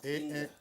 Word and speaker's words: Inga: Let's bring in again Anga of Anga. That's Inga. Inga. That's the pronunciation.